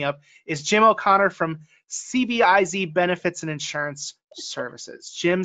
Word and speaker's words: CBIZ: So the letters are actually pronounced CBIZ. Oh, that's even easier.